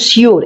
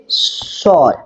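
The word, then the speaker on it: sure: করে না সিওর ঠিক আছে এটা বলে কিন্তু সিওর এটা সঠিক উচ্চারণ নয় এর সঠিক উচ্চারণ হচ্ছে সর সর ঠিক আছে তাহলে হি ইজ সর্ট কাম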